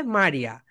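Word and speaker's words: Maria: এটা হচ্ছে spelling, and pronunciation হবে মারিয়া। এম, এই, আর, মা, এম এ মা, বলো এম এ মা। স্পেলিং আলাদা, প্রোনাউন্সিয়েশন আলাদা, ওকে, বলো এম এ মা, আর আই এই, মারিয়া, মারিয়া।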